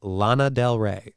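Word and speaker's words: Lana Del Rey: pew your boat gently down the stream it's pronounced Lana Del re okay I am horrible at these things horrible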